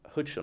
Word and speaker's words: Huijsen: The Bournemouth centre-back, how do you pronounce his name? Hudson or something? Dean Huijsen, yeah.